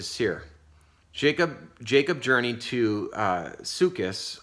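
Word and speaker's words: Succoth: jacob jacob journey to Lucas that's a pronunciation according to a check that I did and built for himself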